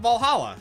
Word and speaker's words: Va11 Hall-A: Oh, hey, Kira wrote about Valhalla. Oh, name sounds a bit silly and a bit hard to pronounce. Good thing it's actually just called Valhalla.